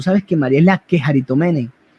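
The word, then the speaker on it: κεχαριτωμένη: Y aquí le da una palabra que en el griego es la quejaritomene, que significa la llena de gracia, la quejaritomene.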